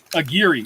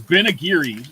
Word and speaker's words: Aguirre: I was like, it's not Mark McGeary, so it's Ben Aguirre. It rhymes with Mark's last name, and that's how I remember it.